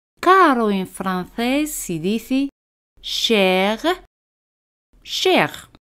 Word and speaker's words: cher: Caro en francés se dice cher, cher. Al final de una palabra, las letras ER en general se pronuncia E. Al final R no se pronuncia, pero a veces la pronunciamos como cher, cher.